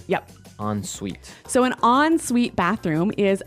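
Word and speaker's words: en suite: s UI t e so even though it's e n we pronounce it like an o n yep on Suite so an onite bathroom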